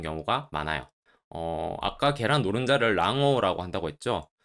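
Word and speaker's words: 卵黄: 그리고 계란 노른자를 난황, 랑오라고 합니다. 참고로 계란 흰자는 남백, 람바크라고 하니까 세트로 외워주시면 좋겠죠.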